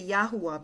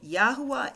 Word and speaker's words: Yahuwah: So when we put this word all together, I'm going to say Yahuwah because that's the way I pronounce it.